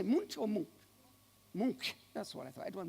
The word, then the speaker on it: Munch: Munch.